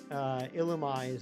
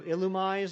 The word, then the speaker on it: Illumise: I just always pronounced it, you know, illumise, like illuminate. And here's the other thing. If it's supposed to be pronounced the other way, there should be an accent on the E.